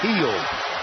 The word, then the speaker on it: Hield: The name is heel. H I E L D.